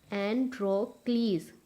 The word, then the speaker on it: Androcles: You have to pronounce it as Androcles. Z की voice आएगी एंड में, ठीक है? Androcles. ईज नहीं होगा, क्लीज होगा, ओके? Androcles.